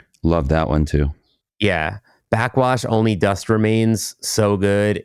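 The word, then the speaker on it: Backxwash: Backwash, Only Dust Remains, so good. It's her first following a trilogy. It's spelled Back X Wash.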